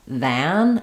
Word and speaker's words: than: If I say this word by itself, than, it'll have the ah sound like man or had, but in the reduced version, it's going to pretty much have no vowel, other than. So you can kind of think of going right from your voice th to your n sound.